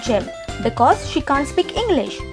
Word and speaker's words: Yim: Number 3 - I Fine..Thank You..Love You A Japanese girl, Kaya, dumps her Thai boyfriend Yim (pronounced "Jim"), because he can't speak English and Kaya can't speak Thai.